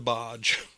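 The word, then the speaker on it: Boj: It was the Bodge. Oh, Is that how you say it? Bodge. the Bodge, yeah, because her name's Boy, Yeah. but like originally, like it was B-O-J Boy, Oh, gotcha.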